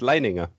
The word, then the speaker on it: Leininger: That is in German that would be pronounced Leininger. Yeah, but if you say it Line Ninja, it's got ninja in it.